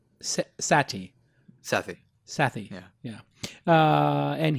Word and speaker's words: Sethi: on me talking to you some people say Sethi it's pronounced sati Saffy sathi yeah yeah and he is a